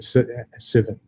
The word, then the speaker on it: SVN: Well, let's get Civen. Civen. Yeah. SVN. One of our coworkers calls it Civen. I've never heard that before. SVN. Subversion. Calls it Civen, so SVN. Civen. SVN is Civen.